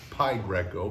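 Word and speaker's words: Pi Greco: By the way, I was in the notes, but the Pai Greco is not P, even though it's P-I, it's Pai Greco because it's the Greek pronunciation.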